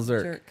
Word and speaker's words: Zierk: Her last name, Michelle Zirk. Zirk. Jerk with a Z.